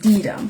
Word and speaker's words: Deedum: Pronounced Deedum.